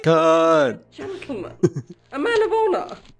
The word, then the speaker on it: Khan: I am They've been pronouncing it wrong this whole time. Everybody knows this is pronounced Khan.